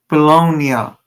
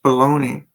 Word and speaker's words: Bologna: But however, you're supposed to say just like Italia, the at the end is uh bologonia. Bologonia is the way you're supposed to pronounce uh bologoney, but I don't know if you guys understand what I'm trying to say.